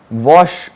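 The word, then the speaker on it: Łoś: okay uh thanks to wash what test okay now you you are reading and L but the pronunciation of this polish Alpha letter is V okay so this is wash what test okay it says this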